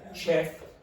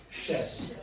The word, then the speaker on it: chef: like the bus but we use the French pronunciation of this so we don't say Chef we say Chef here we say okay